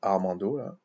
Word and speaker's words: Armando: jours de quelqu'un qui s'appelle Armando il se prononce Armando parce que j'ai tendance mais moi c'est pareil